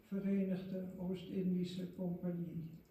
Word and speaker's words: Verenigde Oost-Indische Compagnie: I will now pronounce the Dutch East Indies Company in Dutch, Verenigde Oost-Indische Compagnie.